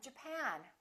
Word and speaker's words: Japan: say japan or japan in this case it's the second syllable i'm from japan i'm from japan let's